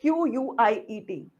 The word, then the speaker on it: quiet: Pronunciation देखिए. Quiet. चुप रहना. Quit. छोड़ना. Quite. काफी हद तक. QUITE काफी हद तक. QUIT quit. I quit. मैं छोड़ती हूँ.